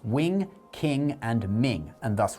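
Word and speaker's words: 明: How do they do it and it's Ming? The G is nasalized.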